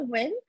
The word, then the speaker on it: Nguyen: my name is Nguyen um my last name is very easy to pronounce it's like a win-win situation I've had it pronounced